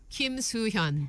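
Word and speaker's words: 김수현: Kim Soo-hyun.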